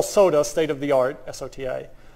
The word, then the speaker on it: SOTA: state of the art, S-O-T-A, which just kind of pronounced like soda by the time everyone says it in machine learning.